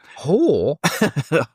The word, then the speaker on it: Horsler: Horsler. Yeah, you shouldn't say that. You shouldn't say that as 2 syllables, because it sounds like you're just calling him Nigel Hoare.